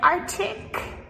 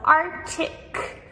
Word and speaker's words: arctic: We have other tricky ones, too, like arctic. So arctic, like the super cold places in the world. Um we spell this a r c t i c. But again, we do not pronounce Arctic. We just say Arctic.